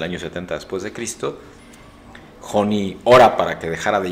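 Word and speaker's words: Honi: profeta israelita de nombre Joni, H-O-N-I. La H en el idioma hebreo se pronuncia como J, entonces H-O-N-I suena Joni, y Joni en el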